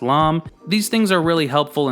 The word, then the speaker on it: lame: here is called alam it's spelled lame and pronounced lom these things are really